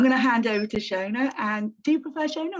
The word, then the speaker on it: Shonagh: So, and I did say it's Shonagh, isn't it? Yeah. I'm saying it right.